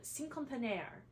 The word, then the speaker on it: Cinquantenaire: And it's called Cinquantenaire. I did not say that perfectly. It's pronounced much better by people that actually speak French.